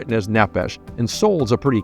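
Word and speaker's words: נפש: Testament of the Bible, there is a word that they probably would have pronounced nephesh. N E P H E S H is probably the way that we would spell it in English, but nephesh and nephesh means soul.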